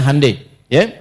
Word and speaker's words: Hyundai: Jadi Jepang misalnya bikin Honda, dia bikin Hai ya. Ya, Hyundai saya tahu bahasanya dibacanya Hai ya.